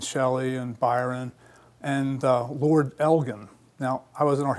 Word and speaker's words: Elgin: I used to always say Elgin, the Elgin marbles. I always mispronounced it. And about a year ago, I looked it up and it's Elgin. So anyway, the Elgin marbles